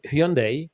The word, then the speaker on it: Hyundai: then we switched into Hyundai um pronounced as Sunday uh tuon so we considered